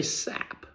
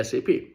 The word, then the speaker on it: SAP: We don't say SAP, right? We say SAP. So those are non-p pronouncable acronyms.